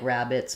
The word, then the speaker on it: Rabbids: It would probably just be like rabbits, but with a D sound.